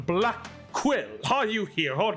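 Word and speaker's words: Blackquill: proper way to answer Simon Blackwell uh actually it's pronounced Simon I said Simon black quill are you here or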